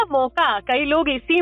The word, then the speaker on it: Mocha: वैसे तो सेल बेशक MOCHA है, पर इसको बोला जाना चाहिए मोका, MOHA जैसे होता है, मोका बोला जाना चाहिए इसको। यमन द्वारा जो कंट्री है उसके द्वारा दिया गया नाम है इसका, और प्रोनाउंस मोका होना चाहिए जी।